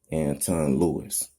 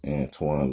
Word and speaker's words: Antoine: Louise and over here we would call and we'll pronounce it Anton Lewis but over in France it's Antoine look we know thank